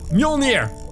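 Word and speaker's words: Mjölnir: Mjolnir, I think you say, right? Yeah, perfect. Spot on pronunciation.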